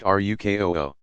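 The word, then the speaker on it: ruku: to place hands on knees Roku pronounced ruk oh ho sitting on the heels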